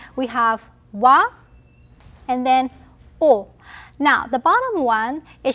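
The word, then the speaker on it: を: have wa and then o now the bottom one it should be wool right but we do not pronounce the w here it's the same pronunciation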